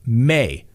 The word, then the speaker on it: Maya: ways and his wife spells his name maya m-a-y-a but it's pronounced mei so i know sometimes